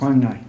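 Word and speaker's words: Quảng Ngãi: Is that how you pronounce? Kwangai Kwangnai province.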